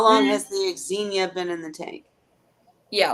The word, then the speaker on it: Xenia: How long has the Xenia been in the tank?